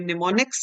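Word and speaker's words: mnemonics: पे यूज करते हैं उन्हें निमोनिक्स कहा जाता है एम साइलेंट है बट कंप्यूटर को ये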